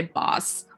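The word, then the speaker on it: bass: example second one uh if you use the word for fish you say boss but when you use the same word for instrument you say base so see pronunciation is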